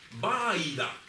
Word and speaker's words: Baida: Quiero deciros que Baida, no como lo interpretó la academia, que en este caso leyó mal ortográficamente, puso tilde en la I, y no es así, e incluso mantiene la